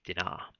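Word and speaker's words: Dinah: pronunciations of that and i was going to go with dinar and who is dinar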